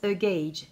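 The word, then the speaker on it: gauge: ça j'ai à huget eu mais ça se prononce guedj c'est un échantillon donc roguet jh c'est le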